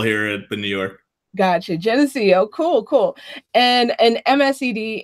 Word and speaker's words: Geneseo: How do you pronounce it? Yeah, Geneseo. Yeah, it's a state public school here in New York. Gotcha. Geneseo.